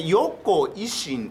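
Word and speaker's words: 温故知新: はいインタビュー編はいでこれ横維新と読みます横維新えウキ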